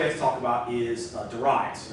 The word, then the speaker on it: Darius: And I pronounce it that way. I had a British professor in college that pronounced it that way, and I picked it up, even though most people pronounce it Darius.